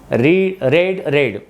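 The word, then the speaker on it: read: रीड वाचणे, रेड. जेव्हा present फॉर्ममध्ये असेल तेव्हा रीड होईल, जेव्हा ते पास्ट फॉर्ममध्ये त्याचं स्पेलिंग तेच पण उच्चार रेड करायचा, रेड.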